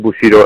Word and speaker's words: Bushido: And my school is Team Bushido MMA Fitness Center in Ottawa.